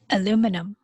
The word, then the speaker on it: aluminum: Well, here in the US, we call it aluminum.